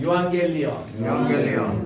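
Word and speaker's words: εὐαγγέλιον: 엡실론하고 우 하면요 에우 발음이 아니라 유 발음이 나요. 따라합시다. 유. 그래서 여기서 이제 감사합니다 할 때 유앙겔리온이라고 그렇게 얘기하는데, 자, 요게 때 요 유라고 발음해요. 따라합시다. 유앙겔리온.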